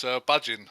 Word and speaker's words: Budgin: Oh, right, it's Budgin. Oh, thank you. I had the D and the G around the other way, and for a long time I was calling you like Bugden.